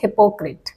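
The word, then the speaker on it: hypocrite: है ठीक है देखिए इसका प्रोनंसिएशन यहां पर चेंज हो जाएगा अब इसे हाइपो प्रोनाउंस नहीं करेंगे हम बोलेंगे हिप्पोक्रेट हिप्पोक्रेट कौन होता है हिप्पोक्रेट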